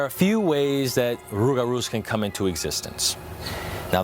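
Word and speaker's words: rougarou: Now over time with the rolling of the tongue the l sound turn into an r. So rugaroo to raru. Now there are a few ways that rugaroos can come into existence.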